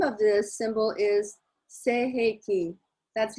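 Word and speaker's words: Sei He Ki: And the meaning of this, and the name of this symbol is Seiheki. That's how we pronounce it, Seiheki.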